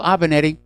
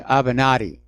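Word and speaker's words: Avenatti: love it here remember Michael avanetti uh avanatti sorry I mispronounced that this was the attorney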